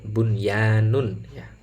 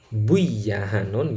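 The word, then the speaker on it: بُنْيَانٌ: lafal Bun ya Nun lafal bunyanun ini juga satu kalimat jadi harus dibaca jelas karena nun sukun bertemu dengan Ya dalam satu kalimat kalau kita bacanya buy a hannun Ya jelas keliru karena bacaannya ini hukumnya adalah irar mutlak atau Idhar wajib ih kemudian lafal sinwanun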